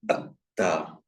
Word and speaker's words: atta: And not atta, but atta. Yeah.